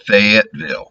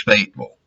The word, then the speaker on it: Fayetteville: Yankees will call it Fayetteville. It's Fayetteville.